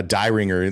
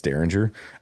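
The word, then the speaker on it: Dieringer: He's the one call it a D ringer like the way it's spelled is D ringer but it's Daringer.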